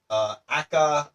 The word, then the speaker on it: aka: So this way we know again it could be pronounced a/k/a or a aka or sometimes people also just read it as also known as.